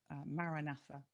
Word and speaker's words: Maranatha: again is it's a four-syllable Maranatha, and that's the same mantra that's given to everybody.